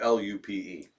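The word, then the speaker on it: loupe: the loop that's about l-u-p-e l-u-p i think so i thought it was l-o-o-p the good loop is that's a different loopy it sounds like lupe but it's spelled l-u-p-e i feel like i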